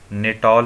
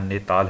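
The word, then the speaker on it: Natal: तो 1894 में गांधी जी ने नेटाल इंडियन कांग्रेस, इंग्लिश में देख सकते हैं, हिंदी में यहाँ नेताल हो गया है, तो इंग्लिश में जो लिखा है वो इसका सही प्रोनाउंसिएशन है, नेटाल इंडियन कांग्रेस की स्थापना की।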